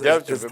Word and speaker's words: Medvedev: Yeah, the Medvedev, how you say his name, is Medvedev, 23-year-old Medvedev, really whatever.